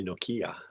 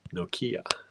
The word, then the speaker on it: Nokia: Linda says, you say Nokia funny. We say Nokia. I say Nokia. I think that Nokia. That's how I was taught to pronounce it. Nokia.